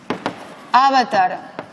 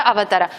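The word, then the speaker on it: अवतार: Cuando la penúltima sílaba es larga, entonces sí que tenemos palabras acentuadas en la penúltima sílaba. Por ejemplo, Gopala, Samsara, Avatara. Estas sí, en estas acertamos, sea como fuere, pero en esas sí que normalmente se pronuncian adecuadamente, ¿vale? Gopala, Samsara, Avatara. ¿Por qué? Porque la penúltima sílaba tiene una vocal larga, ¿vale?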